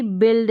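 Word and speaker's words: build: भी ब रहता है जैसे कि बिल्ड है यहां पर बी के साथ यू लगकर आया है तब भी बी का उच्चारण ये जो बी यू है इसका उच्चारण ब है क्या है ब बी यू अगर साथ में आ जाएगा तो इसको भी आप ब पढ़ेंगे यहां पर देखा जा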